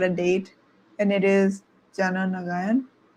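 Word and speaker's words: Jana Nayagan: we finally got a date and it is Jana Nagayan. Janag. Yeah. Yeah. Yes. That is the right pronunciation.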